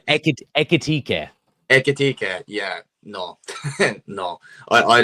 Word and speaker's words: Ekitike: Ekitike.